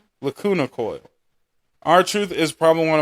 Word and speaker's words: Lacuna Coil: Our Truth by Lucina Coil. How do you say that name? Lacuna Coil.